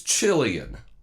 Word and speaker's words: Chilean: something from Chile right maybe a sea bass from Chile or an apple from Chile its Chilean that's how it said but for whatever reason